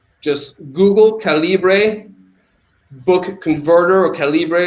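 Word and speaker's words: Calibre: been around it's called calibra just Google calibra book converter or calibra it's like caliber but Cali can you spell that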